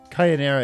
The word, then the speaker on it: Kayanira: Yeah, Kayanira is how Japanese kana would pronounce channeler, much like Kira is killer.